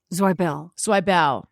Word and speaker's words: Zweibel: You wanted me to mention that in addition to that, you can also watch you in conversation with, is it Alan Zweibel or Zwiebel? Zweibel.